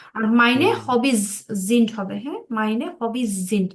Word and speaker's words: sind: Meine Hobbys sind Reisen, জিন্ট, Spielen, জিন্ট, হ্যাঁ, উচ্চারণটা হবে জিন্ট, জিন্ট না জিন্ট।